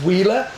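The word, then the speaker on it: Huila: of all of the regions and it's called wheer pronounced pronounced wheeler but actually hu i l a um it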